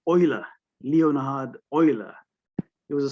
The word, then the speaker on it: Euler: a famous swiss mathematician he pronounced his name as oiler leonhard euler he was